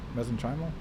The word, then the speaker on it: mesenchymal: Mesenchymal? Mesenchymal. I've heard it said a few different ways. I say mesenchymal.